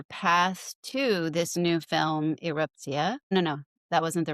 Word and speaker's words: Erupcja: and the new film, which I've just learned how to pronounce with a Polish accent, Eruptia, which we were mispronouncing Eruptja, in case that's what